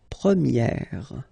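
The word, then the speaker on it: première: And then for the feminine form you will get premier. Okay? So it's open this a sound premiier. premier and then second example.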